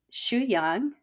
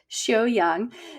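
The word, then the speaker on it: Xiuyang: And also Shu Yang. She's going to have to correct my pronunciation. We went over this before, but I think it was more like Xiu Yang, the ancient Chinese art of self-cultivation.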